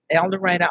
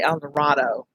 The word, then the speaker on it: El Dorado: the little town where the book is said el dorado arkansas and it is pronounced that way even though most people would say el dorado but we're southern and you know we're stubborn